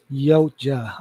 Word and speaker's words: Yautja: a bit thick that it only injures the Yuatja, the Yuatja, Yuaya. How can you pronounce that name? Imagine how easily they can take off the mask of the predator. Yautja, all right, that's easy enough.